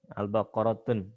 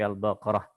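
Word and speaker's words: البقرة: Seperti misalkan Al-Fatihah bukan Al-Fatihatun, Al-Baqaratun tapi Al-Baqarah.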